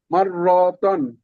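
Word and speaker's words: مرتان: এটা কি রাজু ভাই উচ্চারণটা কি হবে এটা মাররতান আবার মাররতান র একটু টান হয় টান হবে না এটা মাররতান বানান করেন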